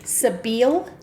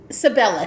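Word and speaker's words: Sibella: So, um and I'm going to get her name wrong because it's hard to pronounce, but I'm going to try all the same. Sabil Sabila. Sabella. Sabella.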